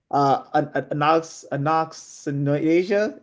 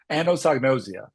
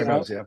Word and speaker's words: anosognosia: is the challenge of, and help me out with pronunciation here, anoxinasia. Is that how that was that? Yeah, it's listen, it's about as bad as it was for me for a while. Anosognosia. There we go.